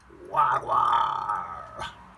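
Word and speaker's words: wagwan: You say, wagwa. Wagwa. That's how you say it.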